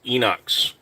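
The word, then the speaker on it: Inox: Freedom Uh Betta 92 Enox Ghost and it is pronounced Enox.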